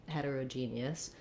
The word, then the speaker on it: heterogeneous: like hedda heterogeneous heterogeneous i should probably rewrite this actually as a d because in this word we do use a flap here rather than a t sound not heterogeneous but heter heterogeneous sounds more like how we use d in the middle of words as well since my voice is on okay thank you for